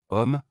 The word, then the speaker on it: homme: En français, lorsqu'un mot commence par la lettre H, cette lettre est muette et ne se prononce pas. C'est comme si elle n'existait pas, cela affecte aussi les articles et les liaisons. Homme, cet homme est très gentil.